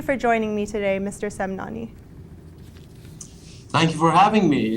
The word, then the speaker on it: Semnani: study thank you for joining me today Mr semnani thank you for having me it's an honor